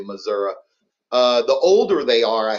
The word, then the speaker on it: Missouri: The younger they are, they'll say Missouri. And then, people that are not from here, they say misery. So what is is Dylan the old fart that's saying Missouri? How do you say it, Dylan? No, I don't say Missouri. I say Missouri, but okay. Missouri is more southern. It's more in the boot hill and more towards Arkansas.